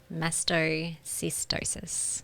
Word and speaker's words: mastocytosis: Uh, and Philly, how do you pronounce this? Mastocystosis.